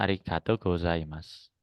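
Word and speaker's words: ありがとうございます: Ini ari. Ini ka, tapi kalau ada gini dua itu ga. Gato, ini to ada u. Berarti bacanya to-nya panjang to. Ini ko karena ada ininya, ada teng-tengnya maka go. Jadi bacanya go. Ini sa karena ada teng-tengnya maka za. Ini i ma imatsu. Imatsu. Jadi bacanya arigato gozaimasu.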